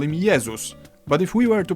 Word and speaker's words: Jezus: In Polish, we call him Jezus, but if we were to pronounce his name the English way, Jezus.